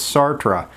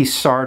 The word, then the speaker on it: Sartre: he just dropped the re off the end of his name and the other one is Sartre where you retain the re at the end of his name probably Sartre is a little bit more common but I grew up saying Sartre so I'm gonna stick with that so John Paul Sartre